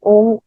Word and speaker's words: ओम: का उच्चारण करते हुए है ना ओम ओ अ उ म ऐसे ओम का उच्चारण करते हुए